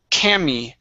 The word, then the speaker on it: Cami: Make sure to pronounce the E at the end. So it's Cami.